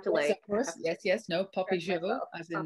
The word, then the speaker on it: Popisho: The right pronunciation of things, eh? Exactly. Well, I've been in my head, I've been saying Popisho. So now I have to yes, of course. No, Popisho.